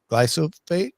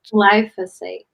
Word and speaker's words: glyphosate: Glyophat. Glyphosate.